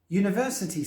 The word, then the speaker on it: university: there are some exceptions University starts with the letter U which is a vowel but the sound of the word is actually a y sound which is a consonant therefore the article to